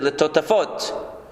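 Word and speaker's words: לטטפת: When we look at a pasuk where there is, where the Torah writes something, for example, one way, letotefet, but really we pronounce it letotafot.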